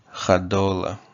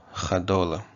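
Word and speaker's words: cadola: Chadola. Chadola. Okay, Chadola is an encyclopedia. And you see the ch, Chadola. Okay, so what this C is going to be a sh, and there's no consonant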